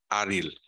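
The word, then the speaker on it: AR2IL: That's how you spell it, by the way, pronounce it, by the way, it's ARIL. The two is silence. Silent.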